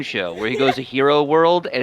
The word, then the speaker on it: gyro: hero. I know It's people hero, call it yeah. like it's spelled like gyro, so a lot of people say that, but it's hero.